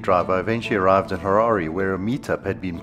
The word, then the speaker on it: Harare: to say Harare after someone complained that I mispronounced it in a recent episode. So my name is and I'm from Harare. Harare.